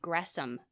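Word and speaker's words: Gresham: and liberalism by Jay gram ma or wait I just learned it's Jay Grom ma even though it's spelled with an sh okay grum grum ma mhm um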